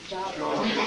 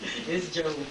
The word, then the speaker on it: Job: Not Job. It's Job. It's Job, it's pronounced what we used to call job.